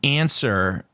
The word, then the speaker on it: answer: And answer, you don't pronounce the W.